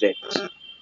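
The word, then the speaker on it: read: স্টেটমেন্টে হয় বইটি পড়া হয়, দা বুক ইজ রেড, বইটি পড়া হয় না, দা book is নট রেড। রিড এর পাস্ট পার্টিসিপল উচ্চারণ হচ্ছে কি আর রেড, কিন্তু বানান একই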